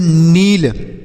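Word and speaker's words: kneel: एल इसे हम पढ़ेंगे नील के एन डबल ई एल नील पढ़ेंगे यहां पर भी के और एन एक साथ हैं तो इसलिए के का उच्चारण नहीं करेंगे तो ये हो गया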